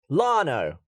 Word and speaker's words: Llano: Yano. LLANO. Do you? Is that how you say it? Is it? Say it again, please. Yano. Lano.